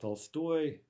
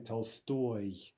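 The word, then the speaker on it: Толстой: is fat in russian the modern russian for fat is Tolstoy so you see there's a difference in the stress but that was the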